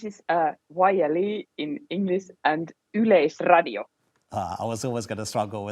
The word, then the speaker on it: Yleisradio: This is YLE in English and Yleisradio.